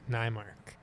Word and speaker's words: Neymark: Neymark. Am I saying that right? I think so. Relative. I mean, you can let me know if I'm I- butchering it. My ancestors pronounce it Neymark.